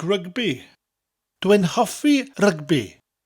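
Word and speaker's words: rygbi: I like rugby. Dwi'n hoffi rugby. Rugby in English and Welsh are very similar, but the Welsh version has a rolling R, and you emphasise the syllables slightly more.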